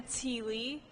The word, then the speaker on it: Teeley: Tepfer said, my name is Teeley. It's pronounced like tea leaf, but without the F.